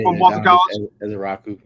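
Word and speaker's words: Ezeiruaku: I just like I think it was Ezeraku. That's how you say it from Boston College. Ezeraku.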